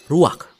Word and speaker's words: ruach: Kata dalam bahasa Ibraninya adalah ruach. Ruak? Ya, benar. Tenggorokan kita harus benar-benar bersih di akhir pengucapan.